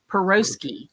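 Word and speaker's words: piroshki: think a Russian recipe perogi peroski perosi is how they say it so that's the oldest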